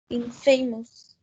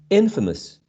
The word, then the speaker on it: infamous: um the shift uh there's a shift of stress so famous when you attach this prefix becomes infamous infamous the transcription is in